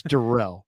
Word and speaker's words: Darrell: It's Darrell.